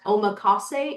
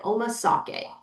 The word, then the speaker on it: omakase: I've gotten tens of thousands of views on a video when I mispronounced omakase and I said omasake.